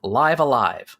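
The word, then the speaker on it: Live A Live: we've been talking about is it pronounced live alive or live aive or nope live alive rhymes with five alive yeah I'm I'm definitely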